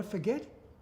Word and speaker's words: Forget: And I forget, he's at second slip. And actually they pronounce it Forget.